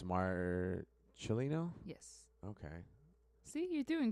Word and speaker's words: Marcellino: troll yeah all right we are live Josie Marcelino yes you told me to pronounce it that way yeah cuz it's Mar chilino yes okay see you're doing great are you